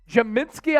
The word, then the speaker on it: Podziemski: Podziemski, I believe is how you pronounce it.